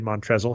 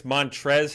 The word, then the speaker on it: Montrezl: to see and I do think it's montrezl harrell with the silent L at the end of 100 sure we'll